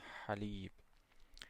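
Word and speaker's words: حليب: H as in halib. So to pronounce this one is as if you are saying ah but you just give it the vibration in the back of the throat.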